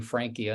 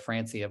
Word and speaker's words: Francia: And I know keep making a mistake of calling you Frankia instead of Francia, but Right. it's probably my Lebanese nature turning C's into.